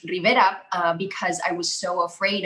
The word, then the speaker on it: Rivera: it like the way it's supposed to be pronounced rivera because i was so afraid of how the